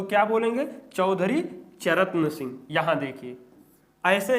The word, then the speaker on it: चरण: यहीं पर क्या देखिए र और ना है ना तो चरन क्या बोलेंगे आधा त लगा देंगे तो ये हो गया ना उच्चारण चौधरी चरन सिंह अब चौधरी चरण सिंह